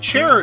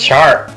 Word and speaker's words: Chara: Is it Chara or Chara? How do you say that? It's Chara, I thought. Oh, Chara, okay. That's not far from my name. I always thought it was Kara because character.